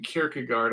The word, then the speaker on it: Kierkegaard: I forgive me um if I'm mispronouncing Kierkegaard I know I know the the Scandinavian Danish pronounced it a little different but that's how we say it in English character guard has the same